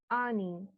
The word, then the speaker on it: earning: All right, then earning. Here the R is again, it's being silent. Earning. So earning, no, it should be earning. মাঝখানে যে আরটা আছে, that is silent.